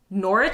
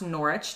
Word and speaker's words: Norwich: burnley okay option two norwich city probably pronounced norwich not norwich i do know something